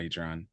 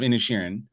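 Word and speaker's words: Inisherin: already said it wrong it's not eatron uh any any Sharon the Banshees of innishin uh and that is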